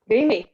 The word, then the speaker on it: Mimi: Am I pronouncing your name correctly? Mimi, yeah. Mimi, yeah.